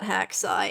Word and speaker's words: .hack//SIGN: I've only ever heard it pronounced hacksai and you you don't pronounce the slashes.